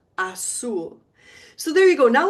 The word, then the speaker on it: azul: How do you think you pronounce a U in Spanish? U. Ooh, not you, but ooh. And I represent it in my pronunciation keys with a double O.